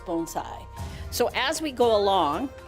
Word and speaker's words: bonsai: today are bonai and the proper pronunciation is bonai so as we go